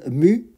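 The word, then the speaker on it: μ: de notre variable aléatoire cette lettre ça se prononce mue il s'agit de notre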